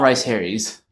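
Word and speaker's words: Rhys Harries: I want I want to make sure I'm pronouncing his last name correctly. Uh, Tom Rice Harry's.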